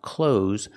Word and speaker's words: clothes: is no th sound it is pronounced close like close the door I'm wearing clothes the